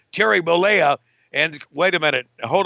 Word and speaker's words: Bollea: How do you pronounce his name? Terry Bollea.